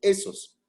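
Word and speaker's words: ἦθος: Pero hay dos tipos de ethos, o de esos, que es la pronunciación correcta, de esos.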